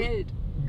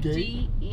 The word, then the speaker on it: Geld: Geld. Good. Geld. How you spell it? Gade? No, not Gade. G-E-L-D. Geld. Geld.